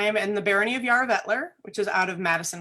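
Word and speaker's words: Jararvellir: Yes, I am in the Barony of Yarra-Vettler, which is out of Madison, Wisconsin. That's how you pronounce it, Joel.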